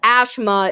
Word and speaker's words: Ashima: Like you mean the fact that they had Ashima be pronounced Ashma is just dead to me. Well, I mean, in India, that is the way they say her name. Ashima.